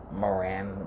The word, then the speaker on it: Moran: Moran rhymes with Duran.